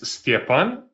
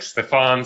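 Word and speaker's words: Stjepan: again hello everybody uh my name is stapan uh but for those of you and probably there's many of you who maybe have troubles with pronouncing it I don't mind being called anything of that version like Stefan Stefan um I'm originally from Croatia and I can tell you that even Croatian people have kind of difficulties pronouncing my name so that's completely okay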